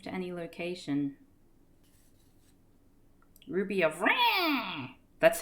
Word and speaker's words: Ra: Ruby of Rah! That's how you're meant to pronounce that, by the way.